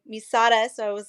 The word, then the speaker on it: Sara: It's spelled Sarah, but I pronounce it Sada, and that's a funny story. In kindergarten, there was 4 Sarahs in my class, and my mom always called me Sada, so I was like,